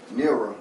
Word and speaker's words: Neara: Now I ain't gonna get into that, but anyway, I want to introduce, I want Neara, that's how you say it correctly, right?